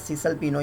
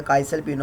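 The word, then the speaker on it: Cesalpino: इसके बाद एक साइंटिस्ट था जिसका नाम था एंड्रियास सीसल पिनो या काइसल पिनो, आप कुछ भी इसको प्रोनाउंस कर सकते हो।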